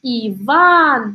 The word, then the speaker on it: Иван: Дальше у нас идет Иван, да? У нас здесь получается следующая картина. Иван, ударение на второй слог, да?